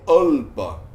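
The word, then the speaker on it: अल्प: a palavra aí é alpa. Alpa. Mas o avagraha, ele está me dizendo, quando você pronunciar isso, quando você for ler, você não vai pronunciar o A, você vai pronunciar ele direto.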